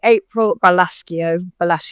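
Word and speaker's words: April Balascio: It's by April Balasio, that's how you say it, and it's about discovering the truth about her father, and it's really good.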